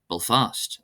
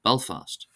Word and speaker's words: Belfast: Also, for example, my dialect of English, I stress the name of the capital of Northern Ireland differently to standard English. I say Belfast instead of Belfast. So you can hear the subtle difference there. Same word but being pronounced differently. Both mean Belfast or Belfast. So I say Belfast as opposed to Belfast, but it's still recognizable. It's just stressed differently.